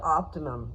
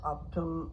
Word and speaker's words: Optum: We got changed to Optimum. Do you guys know who Optimum is? Optum, I'm saying it wrong.